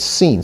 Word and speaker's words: sin: So if the holam is on the right, it's pronounced Shin. If it's on the left, it's pronounced sin, not sin, but sin.